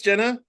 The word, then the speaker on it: Gena: Is that pronounced? It's It's Jenna.